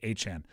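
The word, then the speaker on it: Etienne: By the way, I have to say Achan.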